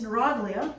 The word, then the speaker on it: neuroglia: then we have neuroglia sometimes pronounced neuroglia sometimes the British say blah but anyway it's neuroglia is a correct way to say it and basically these are